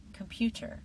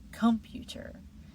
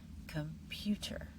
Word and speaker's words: computer: Computer, not computer, and not computer. Computer.